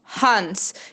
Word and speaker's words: Hans: Hans é um nome de uma pessoa, Hans. Então, o H no início da sílaba, ela vai ter esse sonzinho de esse R, que é o nosso R normal de muitos brasileiros, sem vibrar.